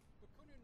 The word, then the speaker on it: Bakunin: Am I pronouncing it right? Bakunin?